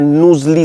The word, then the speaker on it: Knowsley: यह safari park है नसली सफारी पार्क इसको बोलते हैं के एन ओ डब्लू एस एल ई वाई यह इसकी पूरी स्पेलिंग है मिस्टेक मत करिएगा